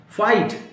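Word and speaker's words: fight: फाइट, FIGST।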